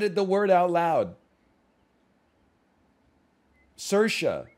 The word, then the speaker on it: Saoirse: It stars Sam Rockwell and Swarize Ronan. I don't know how to pronounce it. I'm sorry. Charisse? I've never said it the word out loud. Saoirse. Saoirse.